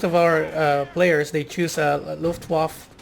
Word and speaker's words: Luftwaffe: because Whenever there's a W, whenever you see a W, just Okay. make sure you pronounce it as a V.